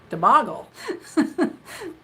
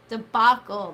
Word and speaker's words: debacle: me to repeat it after our last debacle the boggle what's the word that that's supposed to be